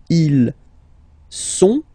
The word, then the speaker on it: sont: Ils sont, final T not pronounced, ils sont, elles sont, okay?